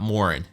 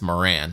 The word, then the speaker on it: Morin: It's not Morin, it's Moran, apparently.